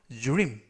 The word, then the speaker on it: dream: 이때 dr 발음이 drew 그래서 dream 또는 dream 이라고 발음하시면 되겠습니다.